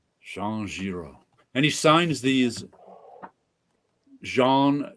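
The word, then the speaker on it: Jean Giraud: the collected fantasies of Jean Ziro Jean Ziro yep so say g i r o yeah the a and u is pronounced o and the D is silent Jean Jiro and he signs these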